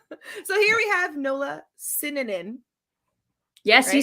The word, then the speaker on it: Sinanan: sorts it's it's mostly i just tell people to say it like cinnamon yeah you know because it's pretty much the same just with ends instead of the m so yeah my when